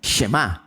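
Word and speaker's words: שמע: palabra de Oye o escucha en hebreo se pronuncia y se dice shem shem hemos escuchado nosotros shem no el shem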